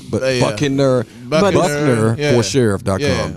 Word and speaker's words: Buckner: So please go to Buckner for sure. You better spell it.